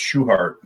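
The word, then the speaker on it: Schuchart: next what you got you got to say his name right it's shoehart okay i get in trouble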